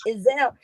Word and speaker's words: Izel: And I said, Izel. It's like gazelle, but spelled like that.